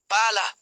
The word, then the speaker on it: pala: When pronouncing a double consonant, pause briefly before it, hold the consonant sound slightly longer, and stress it more strongly than the surrounding vowels. Examples. Pala, shovel versus palla, ball.